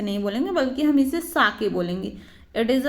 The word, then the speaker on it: sake: बोला, I wish I हैड अ कप ऑफ साके, कि काश मेरे पास क्या होता, शाके होता। शाके यहाँ पे इस ये जो SAKE लिखा है वो शेक हम इसे नहीं बोलेंगे, बल्कि हम इसे साके बोलेंगे।